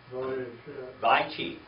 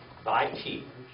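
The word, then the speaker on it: וַיְחִי: Vaychi. Vaychi.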